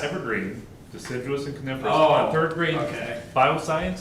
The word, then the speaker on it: deciduous: Dicarious trees. How do you say that word? Deciduous.